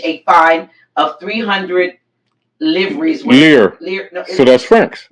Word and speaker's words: livres: Lire. No, so that's francs. Well, spelled L-I-V-R. Yeah, lire. Okay. You don't pronounce the B.